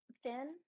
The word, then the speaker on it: Finn: Finn? Yeah. Yeah. Okay, Yeah, I just just Finn. say it like the fish fin, yeah.